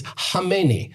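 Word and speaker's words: Khamenei: You know how you actually pronounce Kamani in Persian? It's not Kmeni, it's Hami.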